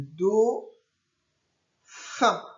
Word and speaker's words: dauphin: Le Do, attention pour faire le son Do, ce n'est pas le O, c'est le O qui s'écrit A-U, les deux lettres. Le Do, fin, et pour faire le son 1, I-N.